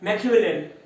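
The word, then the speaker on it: Machiavellian: इसके प्रोनाउंसिएशन में थोड़ी सी कंफ्यूजन हो सकती है, एक बार देखो इसको बोलेंगे कैसे, मैकियावेलियन।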